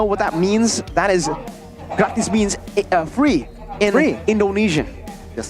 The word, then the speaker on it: gratis: If you guys don't want to know what that means, that is, gratis means free in Indonesian. Yes, sir. Gratis. Pronounced just like that.